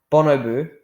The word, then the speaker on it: bonobo: denser food source was that a bonner a bonoboo yeah that's how you pronounce it is a it's a primate and